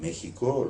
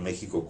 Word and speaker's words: México: En México, los mexicanos nunca escribirán México con J, no obstante que la pronunciación es modernamente con J. Lo que ocurre es que esa X se pronunciaba Eche, la palabra era México.